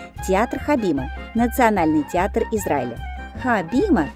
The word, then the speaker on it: Хабима: Хабиба национальный театр Израиля хабима на иврите означает сцена в русском языке произносится как габима в 1913 году у